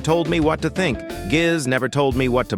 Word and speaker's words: Giz: His name was Giz. G-I-Z, pronounced like Gizmo.